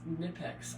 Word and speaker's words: Knipex: The name of the company is Knipex. I think that's how you pronounce it.